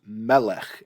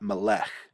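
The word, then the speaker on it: מלך: arrow and so uh that's why i say this is melech and not malech this is eretz and not eretz this is marking the syllable that's accented uh andritz i don't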